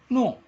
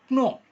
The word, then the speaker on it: know: பாருங்க, இந்த இடத்துல KNOW நோ எப்படி உச்சரிக்கணும்னா இதை நோ, இந்த கே வந்து சைலண்ட் ஆயிரும். நோ அப்படின்னு சொல்லணும். டிட் நாட் நோ அப்படின்னா தெரியாது.